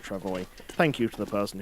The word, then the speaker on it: travois: If we've got the Travois is how you say it. I've been saying it Travois, it's not, it's Travois.